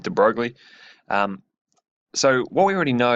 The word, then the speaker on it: de Broglie: something that's really important I call it the de Broglie wavelength but I think it was a French guy and I think it's Dubrow correctly pronounced but I'm gonna go with de Broglie so what we already